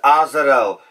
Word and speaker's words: Azael: you guys wrong so I believe after looking at the proper pronunciation it is a zero so we're going to go with a zero and that is the proper pronunciation hopefully if what I'm reading is correct so the easy 700